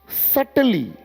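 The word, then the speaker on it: subtly: ये कहता है कि any public person, writer, speaker, actor, politicians is सटली, इसको देखिए सटली मत पढ़ लीजिएगा, सटली है, बी साइलेंट है, सटली मेड द फील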